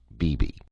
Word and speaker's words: BB: more than extraordinary teacher bb which is her pet name for buffalo bill she pronounces it bibi he has not only